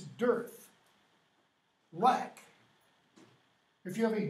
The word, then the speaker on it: Darth: what does Darth mean it's not pronounce correctly an English pronunciation it's dearth what if you have